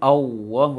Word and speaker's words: Allah: kalimat Allah, pengucapan Allah, jangan Allahu Akbar atau dibaca Allahu Akbar membengkak pipinya semuanya. Seharusnya di lisan saja.